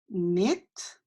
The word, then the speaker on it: knit: have our next word knit nicked and remember that K is silent so it's a net